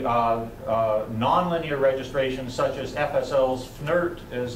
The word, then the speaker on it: FNIRT: There have been a variety of volumetric registration strategies, most recently nonlinear registrations such as FSL's FNIRT is how it's pronounced, This is a nonlinear volume atlas that